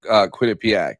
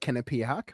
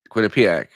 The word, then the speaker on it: Quinnipiac: I don't know why I always thought it was quitipak and not quit. Like I I don't know. I I I always I always pronounced it differently. I don't think I've ever I pronounce I pronounce it kinipiac. Why do you pronounce it? Quinnipiac. I don't know. Uh I think it can be Ken or Quinn. Like I think that's just like a west coast east coast thing.